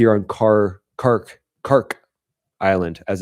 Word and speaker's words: Kharg: energy infrastructure is here on Kharg Kharg Kharg Island as it's said to be produced pronounced.